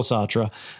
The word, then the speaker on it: Sartre: Instead, my undergraduate lecturers would anglicize his name to either Sart or Sartra.